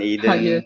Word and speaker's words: Aiden: Aiden, my wife, Nikki, Mm-hmm. and yeah. Okay, it's And I pronounced guess, as Eden.